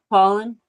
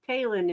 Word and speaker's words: Paulin: Paulin. I said Palin, and he said it was Paulin.